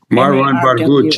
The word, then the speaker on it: Marwan Barghouti: You mentioned Nelson Mandela, and this fellow who, pronounce his name one more time, who is maybe the Mandela of Palestine? Yeah, Marwan Barghouti. Marwan Barghouti.